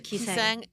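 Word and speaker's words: Gisaeng: Kiseng.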